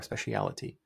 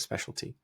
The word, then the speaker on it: specialty: of a sudden saying Sith Lords are our specialtity, but it's actually not specialtity. The word is specialty.